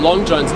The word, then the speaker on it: Longines: How do you pronounce it? Longines, the watch company.